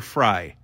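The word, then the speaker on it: Frey: an affair with Amber Frye Fray fry we'll call her fry but for the record phonetically it's Fray but I digress but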